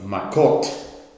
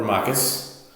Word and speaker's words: Makot: We are starting a new tractate of Makot, or Makos, depending on your pronunciation.